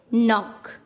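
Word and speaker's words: knock: एन से पहले के आता है तब के का उच्चारण नहीं किया जाता। जैसे एन से पहले के है नॉक, एन से पहले के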